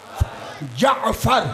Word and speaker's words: جعفر: امام ہیں اس لیے ہر شیعہ کا یہ تلفظ صحیح ہونا چاہیے کیا لفظ ہے جعفر یہ لفظ ہے اصل